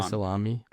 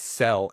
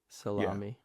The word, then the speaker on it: Sellami: They should say salami. It's Sellami. S E L L A M I. Right? So, I'm Sellami. Suh la mi.